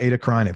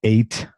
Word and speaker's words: Eta Carinae: And I wrote it eight like ATE cuz I couldn't but it's Eta ETA Carinae c a r i n